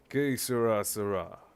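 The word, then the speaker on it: Que será: Okay, I'll do how it's pronounced. Que sera.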